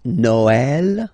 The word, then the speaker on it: Noël: Okay, the last one, tréma, well, basically it's quite rare, and the tricky thing is that in some cases you will have to pronounce it like eh, okay, like for instance Noël, okay, but then in